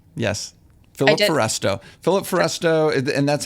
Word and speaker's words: Philip Foresto: Philip Foresto, and that's how you spell it.